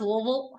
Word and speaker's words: Louisville: going to Louisville in September I believe it's pronounced louville W yeah with a buddy of mine that